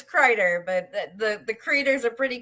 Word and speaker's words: Kreider: It's Kreider, but the Kreiders are pretty common pronunciation for it.